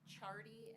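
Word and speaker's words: Ciardi: Rapham, state calls Chardy, and that is pronounced spelled, C-I-A-R-D-I.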